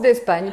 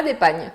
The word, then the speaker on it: Despagne: Et ça se prononce d'Espagne, pas d'Épagne, s'il vous plaît.